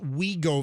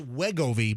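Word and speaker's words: Wegovy: Remember we uh we realized like three weeks ago that it's pronounced Wiggoi because they have a commercial now. We go. We go. I thought it was just WGO, but it's it's we go.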